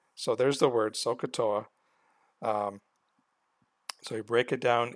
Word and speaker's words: SOHCAHTOA: so kah Toa okay so if you break it up into three parts it actually